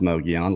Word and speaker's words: Mogollon: But if you haven't gone and subscribed to, it's pronounced Mogollon. It looks like Mogollon Monster. Yeah, it's the L's are kind of like the Spanish so Mogi.